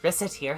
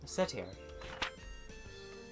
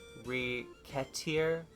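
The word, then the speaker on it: Recettear: Rossettier, ho! Rossettier. Mispronounce it even slightly and... Racketeer?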